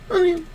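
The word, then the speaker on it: Robert Tonyan: Gotta teach Glenn how to say it, man. It's gotta be... Tunyon.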